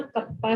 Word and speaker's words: kappa: इट इज a reciprocal of specific resistance, और इसको ना कप्पा से लिखते हैं। देखो इसको कैसे प्रोनाउंस करना है, KAPPA, कप्पा, कापा, कप्पा, ठीक है।